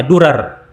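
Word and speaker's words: Dorar: situs bernama dolar net ya bahasa Arabnya durar tapi bahasa Latinnya dolar tidak tahu bagaimana cara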